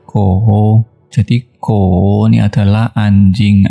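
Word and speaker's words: 狗: Kemudian ternyata kalau dikasih Fan Quan Pang, yaitu hubungannya dengan anjing, itu adalah nada 3, Ko.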